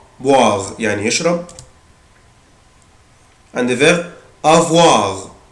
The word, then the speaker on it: boire: عود نفسك الاو اي او الاو اي بالانجلش بنطقها وا، boire يعني يشرب.